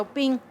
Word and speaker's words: OPIM: y ya no más las siglas se pronuncia o ping y nuestra organización se